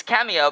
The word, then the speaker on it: cameo: the next word Cameo it's Cameo because like um it's not camel because the O works like a uh like a silent E and it turns the E of the E into uh like a e sound and uh now ah